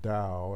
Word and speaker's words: Tao: who don't know is pronounced da as in like there's a D in there Tao da Dost is T